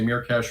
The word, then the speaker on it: Myrkesh: the pronunciation goes uh but in reality it's a fantasy word so you can say mirash or mer I've been around the